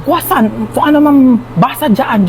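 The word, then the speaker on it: croissant: Croyant daw. Croisant? Ah quasant po. Ay croisant. Kwasan.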